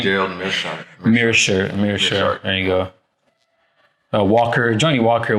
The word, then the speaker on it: Meerschaert: Meerschaert.